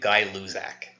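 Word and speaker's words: Gay-Lussac: by a guy named guy Luz AK that's how you pronounce that so sometimes this law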